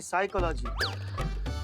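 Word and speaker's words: psychology: पिसाई का लागी तो साइकोलॉजी नहीं साइकोलॉजी पी साइलेंट होता है तुम हो जाओ साइलेंट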